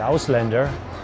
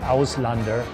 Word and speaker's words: Auslander: at a German restaurant the houselander a weird name they pronounce it Auslander it actually means foreign